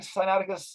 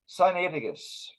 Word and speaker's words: Sinaiticus: sinaiticus and by the way although i'm saying sciatica it really should be pronounced sinaiticus but it's a as a habit but what